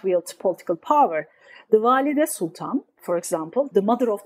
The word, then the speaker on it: Valide Sultan: So the queen mother, the sultan's mother, how do you pronounce that again? Walid Sultan, is that right? Valide Sultan.